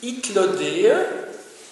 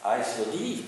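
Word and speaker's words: Hythlodée: Ce marin, je l'ai écrit au tableau, s'appelle Itlodée, vous voyez, Itlodée. Si on le prononce à l'anglais, ce sera Islodie, mais bon, il se fait que Itlodée, ça vient de deux mots grecs là aussi.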